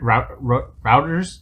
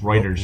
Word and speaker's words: Reuters: but for some reason reuters routers is that he pronounced it reuters i think it's writers right writers writers right writers